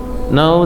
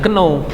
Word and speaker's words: know: Iya, jangan ngomongnya keno. Jadi know that ya.